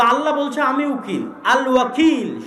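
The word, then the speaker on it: الوكيل: আল ওয়াকিল শুদ্ধ উচ্চারণ।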